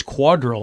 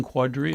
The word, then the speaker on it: Quadrille: east of the publix i'm pronouncing it wrong it's quadrille i keep saying quadruple quadrille quadrille i guess it all depends